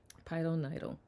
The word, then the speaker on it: pilonidal: Pilonidal. Nidal. Is that an I or E? E sound.